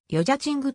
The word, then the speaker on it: 여자친구: では女友だちという意味のヨジャチングと発音されるためよちんと略さ